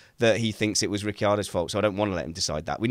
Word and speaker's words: Ricciardo: that move max Verstappen cop covered him off Ricky Otto had no plan B for if max did that Ricardo you nearly made me say his name incorrectly Ricardo who have made the corner if he hadn't